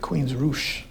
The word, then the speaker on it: Queensrÿche: None of us drink the uh the pronunciation of the name with the unlots is actually I believe Queens Roo.